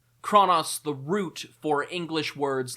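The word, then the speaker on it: Chronos: As you can tell from how much trouble I have pronouncing that letter, I'm just going to also pronounce this one Kronos. Kronos, the root for English words like chronology, chronic, synchronize.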